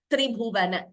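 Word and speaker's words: त्रिभुवन: Here also, t is doubling. We are hearing two. Astoka tribhuvana.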